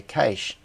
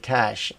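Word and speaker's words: cache: did pronounce it okay apparently only Australians say Cas instead of cash and they mocked for it if working in itl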